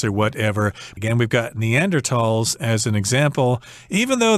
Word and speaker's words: Neanderthal: And I should mention that this is a German word, so some people say Neanderthal, pronouncing it the English way, but I think in German you're supposed to say Neanderthal, Neanderthals.